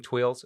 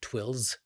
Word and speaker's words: tuiles: It's not twills. It's twill. I said twill.